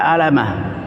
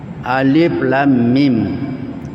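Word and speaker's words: الم: Jadi kalau orang tidak tahu mungkin bisa dibaca Alama k Alif Lam Mim namanya di dalam Ulumul Quran kalau di perguruan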